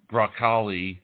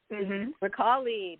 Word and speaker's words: Bracale: it repellent you are it's italian it's italian from italy so sell it so we didn't thank you b-r-a-c-a-l-e recalli beautiful italian of course